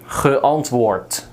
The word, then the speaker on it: geantwoord: Like in English, they would do that, but in Dutch you say if the D is at the end, we just pronounce it as a T because it sounds better to us. Antwoorden, geantwoord. See, it sounds like a T, but you write it as a D.